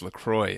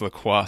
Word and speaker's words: LaCroix: think called Lacroix and somebody on the show mispronounced it as Lacroix and then was corrected oh it's Lacroix sweetie and then that was